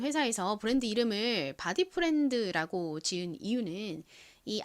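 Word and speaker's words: Bodyfriend: 소리 드 소리 나서 읽어보면가 됩니다 한국식으로 디 프렌드라고 읽는데요가 뭔가요 친구를 의미하는 단어죠 는 회사에서 브랜드 이름을 바디 프렌드라고 지은 이유는이 마 의자가 몸을 이렇게 풀어주는 편안하게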